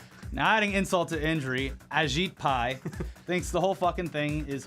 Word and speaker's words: Ajit Pai: to gut net neutrality ajit pai apparently that's how you say his name no i'll say it wrong just to piss him off agit pie remains undeterred drinking your